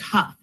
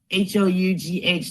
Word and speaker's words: Hough: It's Hough, Hough, like Rough or TOU. Okay, so that's how you pronounce it, Hoff?